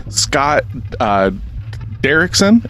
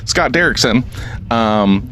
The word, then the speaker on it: Scott Derrickson: Scott Derrickson, is that how you pronounce his last name? That's how I did. Okay, cool. Scott Derrickson.